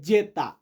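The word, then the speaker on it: zeta: এক্স মানে এক্স আর ওয়াই ওয়াই কে Italian ভাষাতে বা ইতালিয়ান বর্ণমালাতে আমরা উচ্চারণ করি ইপসিলন ইপসিলন যে ডেটার ইতালিয়ান হবে যেতা তো যারা সম্পূর্ণ ভিডিওটা দেখেছেন তাদেরকে এখন আমি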